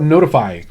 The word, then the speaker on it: ntfy: Okay, I'm going to talk about Notify, and it's spelled NTFY.